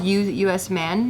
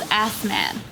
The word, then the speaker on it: Assman: Is it because his name is U.S. man, maybe? Nah, so it's pronounced Usman, right? But it's spelled Assman.